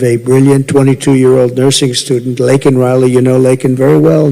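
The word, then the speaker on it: Laken Riley: brilliant 22-year-old nursing student lakan Riley you know lak very well now and after months of prodding him Biden couldn't pronounce her name he said uh he said Lincoln Lincoln Riley and Lincoln Riley is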